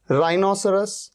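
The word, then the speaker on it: rhinoceros: अच्छा यहां पर देखिए राइनोसोर राइनोसोर में या रिदम में आप देख रहे एच से पहले क्या आ रहा है आर यहां पर एच का साउंड ही नहीं है राइनोसोर राय एच नहीं आ रहा है राइनोसोर का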